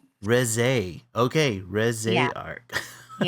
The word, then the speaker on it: Reze: Is it the Rizza or RZ arc? How's her name pronounced? It's neither. It's re res.